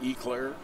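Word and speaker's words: Eau Claire: Wisconsin is how you say it, Eclair.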